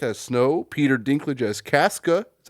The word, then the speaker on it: Casca: It features Rachel Ziegler as Lucy, Tom Blythe as Snow, Peter Dinklage as Casca.